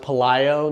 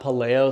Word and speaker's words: Pelayo: The Hispanic, like Latin pronunciation is Pelayo.